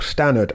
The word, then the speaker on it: Stannard: of burgos bh rob stanard of mitchelton scott or stannard i think is the australian pronunciation um i'll say both